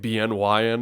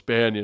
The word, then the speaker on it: BNYN: Like with my name, a problem I have is like people don't know how to pronounce it. Right. And so they just call it like BNYN, and then I'm like, oh no, it's it's Banyan, and they're like, Right.